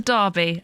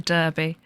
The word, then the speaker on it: derby: we're in the U.S it'll be a derby pronounced wrong of course yeah not a derby a derby ugh that's fair still got